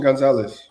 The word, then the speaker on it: Gonzalez: Christian Gonzalez.